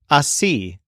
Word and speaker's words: así: One of the handiest is the word así, which means this way.